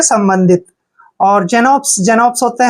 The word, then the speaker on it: Xenopus: और देखिए PUS का उच्चारण हम पस करेंगे, पुस नहीं पढ़ेंगे, पस। जीनोपस।